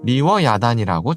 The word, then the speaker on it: 리워야단: 성경에서는 리워야단을 번역하지 않고 히브리어 발음 그대로 리워 야단이고 적어 놨습니다 이렇게 현대의 독자들에게는 용의